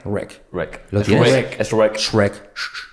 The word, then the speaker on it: Shrek: Es shrek. Shrek. Letra clave. Sh. Shrek.